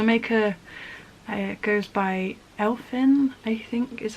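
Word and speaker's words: Elfn: don't know so it's i think it's pronounced elfin but it's e-l-f-n uh she does have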